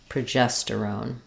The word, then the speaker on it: progesterone: on them which is start at the final syllable and work your way through the word that would sound like on terone gestone progesterone or on sterone tosterone